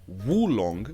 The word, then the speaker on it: oolong: And then we have oolong, pronounced woolong, which translates to dark dragon tea.